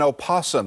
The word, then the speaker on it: opossum: the life of an opossum that's the proper way to say possum the critter had been